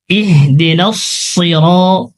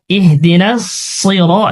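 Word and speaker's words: اهدنا الصراط: ইহদিনাস সিরাত, ইহদিনাস সিরাত, এখানে সদ রয়েছে, সদের উচ্চারণ মোটা করতে হয়।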